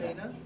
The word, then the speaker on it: Raina: How old is your child with Rhina? Is that how you pronounce the dog's name? What with Raina, yeah. Raina.